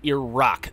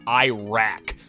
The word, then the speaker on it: Iraq: And as long as the topic is still fresh in my memory, it is pronounced Iraq. That's how they pronounce it there. It's not Iraq.